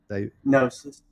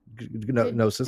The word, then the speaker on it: Gnosis: Gnosis. Gnosis. The G is silent, Steve.